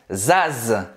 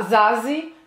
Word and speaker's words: Zaz: Você vai pronunciar o Z. Zaz. Zaz. Zaz. Zaz. Então, esse Z no final também tem som de Z, tá? Zaz. Zaz. Zaz. E não vai falar Zazi, não vai falar Zaza, não vai falar Zazé. Vai terminar no Z mesmo, mas do mesmo jeito